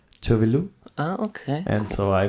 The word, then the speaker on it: Tove Lo: It might be, but I think it is a Swedish name, and she pronounces Tove Lo.